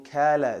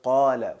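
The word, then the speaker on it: قال: Let's say pronunciation, saying kala instead of qala, for instance.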